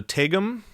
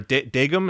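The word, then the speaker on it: 대금: That is it's called a tegum or a dagum. It's spelled with a D, but the sound is sort of in between a D and a T.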